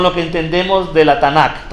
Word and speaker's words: Tanak: Vamos a comenzar primero con lo que entendemos de la Tanak, o Tanak, que significa Tanak este T A N A K, Tanak.